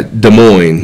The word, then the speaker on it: Des Moines: it pronounces it that's Des Moines and she's from Iowa yeah I don't Des Moines I just no you don't you don't you don't need the s's yeah Des Moines that was a shirt